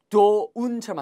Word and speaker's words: don't: 그걸 맨 앞에 쓰려면 don't가 있어야 돼요. D-O-N apostrophe T 발음 주의하세요. don't 이게 아니고요. don't처럼 하시면 돼요. don't. don't. 간단하죠? T 발음은 살짝 들릴까 말까.